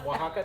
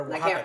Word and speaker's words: Oaxaca: Okay, so Oaxaca cheese.